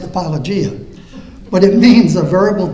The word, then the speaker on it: apologia: and then it had in here and it's pronounced apologia but it means a verbal defense and it's